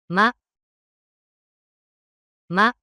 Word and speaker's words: ま: ま、ま、 The pronunciation of character meh in Japanese is something like the combination of mah in English.